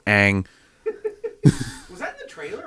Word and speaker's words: Aang: Like, I was sitting there like this, and to go Ong, and I go Ang.